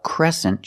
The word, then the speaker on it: crescent: shape this is a crescent shape and this word has a different pronunciation e make the e sound like eggs and bed e c Crescent Crescent